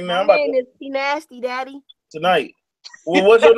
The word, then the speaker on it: Pnasty: It's gonna be hard to find Nikki Nasty. Nah, I ain't saying Nikki Nasty. How much? What you think? Say, spell it. It's Pnasty. Pnasty. I thought you said Nikki Nasty. Yo, it's Pnasty.